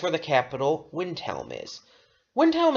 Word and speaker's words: Windhelm: the capital windel is windel is sometimes pronounced by some people as velm as if it's like German cuz in German that spelling would be vintel I have pronounced it both ways so so it doesn't